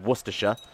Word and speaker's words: Worcestershire: Okay, we've got to go and deal with Worcestershire. That's how that's pronounced.